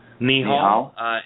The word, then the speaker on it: Nihal: Nihal, N-I-H-A-L, yeah.